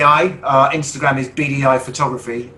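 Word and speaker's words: Beadyeye: the agency is called bdi our instagram is bdi photography bdi is spelled b-e-a-d-y-e-y-e rather than the initials bdi uh we're not particularly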